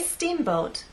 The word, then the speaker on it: steamboat: so when we say Steamboat I want the first part to be loud and the second part to be softer let's try that Steamboat